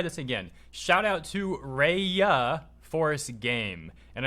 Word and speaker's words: Raya: Shout out to Raya Force Game. And I'm pronouncing the first word R-A-Y like that because, again, closed captions thought I said something else the last time. So shouts out to Raya Force Game, who makes